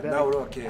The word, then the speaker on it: Nawrocki: Nawrocki.